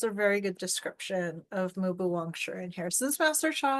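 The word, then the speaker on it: Mu Bu Wang Shi: Mu is M-U, Bu is B-U. Mubu Wang, W-A-N-G, Shi, S-H-I. Mubu Wang Shi.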